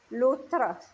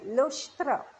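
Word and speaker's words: लोष्ट्र: I'm not pronouncing properly. Lotra. Lotras, okay, Loshtra. Loshtra and Ashma.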